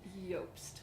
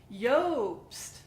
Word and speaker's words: Iobst: a lobst vanilla it's yolks its IO BST yost but it's pronounced yolks Yoast yeah cool all right well we're gonna talk